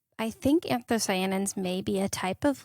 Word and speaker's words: anthocyanins: It's anthocyanins. Anthocyanins. I mixed different syllables.